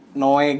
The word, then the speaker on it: Noe: Noe kan ejaan lama tuh. Oke. Jadi biar lebih gampang Noe. Gitu. Noe. Ya. Jadi jadul ya. Jadi jadul. Iya, jadi ejaan Noe jadi gitu ya.